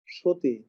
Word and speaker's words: সতী: তারপরে হচ্ছে সতী, তয় দীর্ঘ ইকার কিন্তু উচ্চারণ হয়ে গেছে সতী।